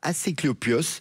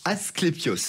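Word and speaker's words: Asclépios: complexe religieux dédié à Aséclopios, le dieu grec de la médecine. Al peut-être que j'ai mal prononcé Asclepios. Voilà, c'est c'est plutôt celui-ci.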